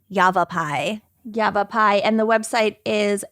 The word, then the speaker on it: Yavapai: that's awesome I love that so much and it's spelled y a v a p a i Yavapai Yavapai and the website is Yavapai human Trappers